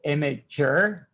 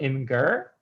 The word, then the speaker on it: Imgur: said it's jif and just as you pronounce it imager and not inger the person that invented